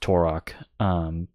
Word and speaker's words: Turok: It's pronounced Turok.